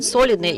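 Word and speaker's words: солидные: The stress on the first syllable in the word solidные is not typical for Russian, but still we have to be correct about that.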